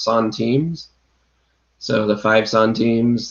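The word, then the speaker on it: centimes: time the french lower denomination the it's actually pronounced son teams so the five son teams the ten sun teams etcetera i used to call those send times yep yeah but uh penny haven actually corrected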